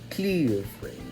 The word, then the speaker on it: Kyiv: It is to be said as Kyiv? Kyiv.